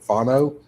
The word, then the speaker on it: Fano: Fano. Yeah. Fano.